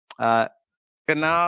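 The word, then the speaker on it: Granov: Ganav, yeah.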